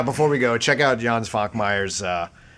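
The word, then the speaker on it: Jan Švankmajer: Also, but yeah, before we go, check out Jan Svankmeyer's. And phonetically, it looks like John Schvankmeyer, I guess.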